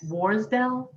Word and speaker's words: Worsdell: I was looking at your name, your last name, and it's, if I pronounce it correctly, Worsdell? Yes. Worsdell.